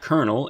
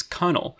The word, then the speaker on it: colonel: It's just that the pronunciation it shows is different from how the word is pronounced. It's not kernel, it's cunnel.